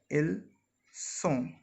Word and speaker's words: ils sont: Here again the basic difference between ils, elles sont and ils, elles ont is the buzzing sound. Here we say ils ont when we are pronouncing this and this together, and here it was simply ils sont.